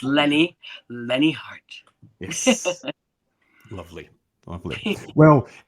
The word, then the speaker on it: Lenne Hardt: because a lot of people still call me lean or Leanne it's Lenny Lenny heart yes lovely lovely well it's been uh fantastic